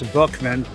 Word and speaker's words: Boeckmann: Here he is, Boeckmann, or it's really Boeckmann. Can you pronounce that? Well, out here they say Boeckmann. I think in German it's Boeckmann. Something close to that.